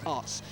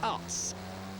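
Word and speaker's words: Aerts: me the day thank you Danny it's actually us they pronounce it in uh in Holland and Belgium they pronounce it us so I've learned something from Danny there I'm always willing to learn it's Mario us three kilometers to go for the two leaders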